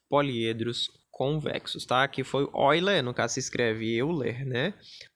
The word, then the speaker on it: Euler: Aqui é para poliedros convexos tá que foi Oi Lê nunca se escreve Euler né mas se lê vai ler